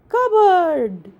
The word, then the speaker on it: cupboard: It's called cupboard. It's called cupboard. Spelling है cupboard, but we are pronounce this one like cupboard.